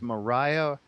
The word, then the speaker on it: maria: of it you know you pronounce the plural of mauree as mariah or maria uh in other words